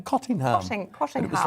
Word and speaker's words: Cottingham: And if you're a local, you pronounce it Cottingham, if you just want a pronunciation there.